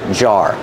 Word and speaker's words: jar: mason jars pronunciation jar use the J sound like juice and jump and R like car and far together jar this is a jar